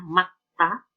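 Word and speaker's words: 맑다: Ini tulisannya malgeda, bacanya makta. Makta, cerah.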